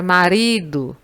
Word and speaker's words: marido: Na palavra marido, a sílaba que você demora mais para pronunciar, ou que você pronuncia com maior intensidade, é o ri.